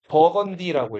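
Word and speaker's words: Burgundy: 자, 브루군드는 이거 영어로 읽으면 어떻게 읽을까요? 영어로 읽으면 버건디라고 일단 버건디 어디서 들어본 거 같지 않아요?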